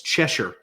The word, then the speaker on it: Cheshier: Go to Amazon and it's Cheshure. Yep. All right. All right. I pronounced it right.